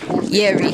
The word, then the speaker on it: Jerry: His name was Jerry, but of course it's pronounced Yeri.